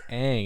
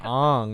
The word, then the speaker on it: Aang: I mean, it's Aang, and they said Ong the whole time.